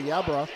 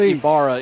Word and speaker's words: Ibarra: back / linebacker Isaiah Yabra, 5'8", 170, but he came in and laid the wood. I'm going to teach you some Spanish. Wood. They pronounce that Ibarra in the Hispanic my world.